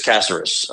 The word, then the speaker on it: Caceres: It is Caceres.